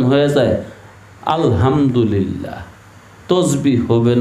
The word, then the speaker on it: আলহামদুলিল্লাহ: আলহামদুলিল্লাহ আলহামদুলিল্লাহ আল্লাহ এই শব্দটার মধ্যে টান আছে না নাই আছে এক আলিফ টান এই টান না দিলে